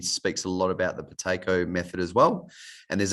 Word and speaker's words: Buteyko: And I would also recommend looking into the Bateko method as well, which is spelled Buteyko.